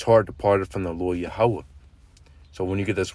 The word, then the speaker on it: Yahweh: You get Yahweh. That's how you say it. That's the real pronunciation, how you say it. Because, if you just look it up and go based off how what the small hats pronounce their, this how they're going to pronounce Strong's H 3068. Yehovah. Yehovah. Which that makes completely no sense.